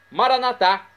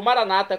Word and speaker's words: Maranata: E agora eu clamo do aramaico, o dialeto de Jesus, Maranatá, como dizemos nós católicos, ou Maranata, como dizem nossos irmãos separados, os evangélicos ou protestantes. Não importa a pronúncia, o significado é o mesmo.